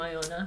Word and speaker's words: Iona: prime target for bullies, the name Iona. So your parents hated you. And is also what- rhymes, also rhymes with Bona, Stoner.